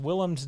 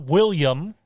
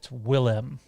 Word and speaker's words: Willem: Toronto Freddy says, holy shit, I'm so glad you pronounced Willem's name correctly. Yes, it's not William, although some people like to say it is. Do they? It's not. It's Willem.